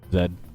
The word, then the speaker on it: Zed: Zed. I'm calling you Zed because I'm Canadian and that's how we pronounce Z.